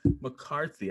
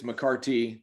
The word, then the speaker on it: McCarty: my new friend mccarthy i should have asked you if i pronounced your name correctly is that correct mccarthy it's mccarty t-y t i'm sorry well there